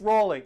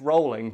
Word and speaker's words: Rowling: name and they go are miss Rowley actually no it's rolling but it's a common